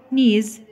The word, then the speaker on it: knees: طيب knees قبل ما تكتبها افتكر ان الكي silent، ببدأ بقول knees.